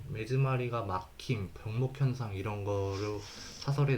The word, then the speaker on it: 目詰まり: 리무트 키리프드 전삭 치커기 깎여나온 부스러기마루 막히다 매즈마리 이것도 후사가리라고 읽기 쉬운데 이거 매즈마리라고 읽는다고 하더라고요.